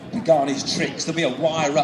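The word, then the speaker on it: Huayra: So how many actually you're with the company, you pronounce the flipping thing. It's a Wyra.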